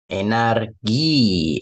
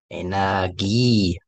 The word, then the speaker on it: Energie: 어렵지 않겠지만, 그래도 발음 조심. Energie, also Energie, das hier okay. 길게 올라가면서. Energie.